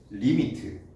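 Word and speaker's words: lim: 자, 가까워진다라는 기호가 Li으로 쓰고 읽을 때는 리미트. 단어 알죠? 리미트. 여기 IT가 생략돼 있는 거야.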